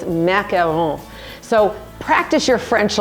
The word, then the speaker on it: macaron: and they're not pronounced macaroons there's only one o in there so it's macaron so practice your French